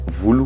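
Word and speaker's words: volo: Les cheveux, ça se dit vulu. Alors vulu, ça s'écrit V-O-L-O, donc vulu, V-O-L-O, les cheveux.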